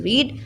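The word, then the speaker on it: read: इसकी first form होती है रीड, सेकंड और थर्ड होती है रेड रेड।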